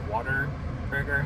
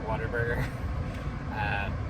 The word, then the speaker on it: Whataburger: know it sounds like I'm saying water burger, like water, but the name is what a burger. But if you say it fast enough, it sounds like Whataburger. And if you're from here, you pronounce it like Whataburger.